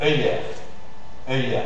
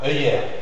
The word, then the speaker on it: œillère: Tu as l'accent grave, c'est un E ouverte, hein? Et après tu as le R, œillère. C'est difficile, hein? Voilà, œillère. Remarquez le E ouvert toujours dans une position de syllabe entravée.